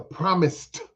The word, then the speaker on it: promised: So, man, trying to make it to the promised land. It's not the promise, Promise. Don't mispronounce it. It's not the promised land. It's the promised land with a D.